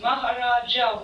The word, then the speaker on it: Maharaj: Maharaja we write. In the books it's written Maharaja. Yeah, because the books are literal. Yeah, but we pronounce Maharaj.